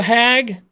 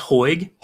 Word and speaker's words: Hoag: Kick say hi hag welcome to the stream did I say that right how the hell are you sir I I'm good uh it's pronounced Hoy kind of with a why in it but yeah I'm doing